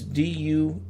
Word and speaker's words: Deus Ex: But it's spelled Deus Ex, so it's Duesex.